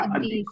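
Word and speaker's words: الديك: नाम साइलेंट रहेगा, अदीक।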